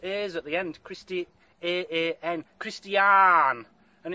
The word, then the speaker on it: Christiaan: I better find three, hadn't I, so that Christiaan can have one, the lad who's invited us.